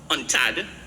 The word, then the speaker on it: UNCTAD: But in 2021, a UNCTAD, which is, it's pronounced UNTAD, World Investment Report, this